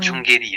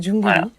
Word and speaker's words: Jungeli: Il a du mal à dire Jungelli hein. C'est Jungelly.